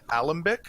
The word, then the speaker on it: alembic: The shelving unit right next to you, and you see an alembic. Is that how you pronounce it?